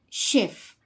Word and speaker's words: chef: CH as sh sound in these words we pronounce CH as sh sound mine machine p shoot parachute sh F Chef CW sh crochet Brer